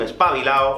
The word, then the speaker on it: espabilado: al igual que antes normalmente aquí en españa los españoles no pronunciamos esa ultimate así que alguien te puede decir eres un espabilado o eres una ex para vilar así es como lo diríamos los nativos pero puedes decir perfectamente